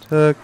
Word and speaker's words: Takua: There's Takua, and that's exactly how they say it every time that he appears on screen.